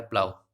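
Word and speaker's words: plough: इसी प्रकार से ये देख लीजिए, जी एच साइलेंट, जी एच जो है वो साइलेंट रहेगा, ये क्या हो जाएगा, प्लाव।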